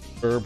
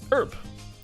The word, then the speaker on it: herb: I got too triggered by people pronouncing herb without the H. Yeah, herb.